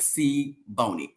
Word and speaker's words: Siboni: And you're literally giving me the phonetically like C Boney, and I'm still saying wrong. C Bonnie.